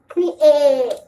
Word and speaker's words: create: So in this one, we see the small word that we call eat, but it is not pronounced eat in this word. So we can't say create. Create. We have to say the E and the A. So we say create.